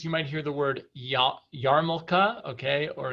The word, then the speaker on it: yarmulke: in some communities you might hear the word yarmulke okay or yamaka and that is actually a a contraction of